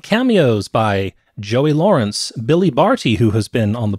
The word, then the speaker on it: Barty: podcast for some time, that Billy Barty, I believe, is a name that I mispronounced the last time we did a film that he was in, and there was a commenter who corrected me. I think it was on YouTube, because I think I said Bartley.